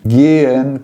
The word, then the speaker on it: gehen: Gehen, quando o H aparece no meio da palavra, você tem que repetir a vogal anterior ao H.